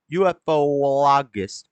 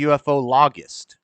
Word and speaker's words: ufologist: UFOologist. How do you say that? Because it wouldn't be UFOologist. It'd be UFOlogist.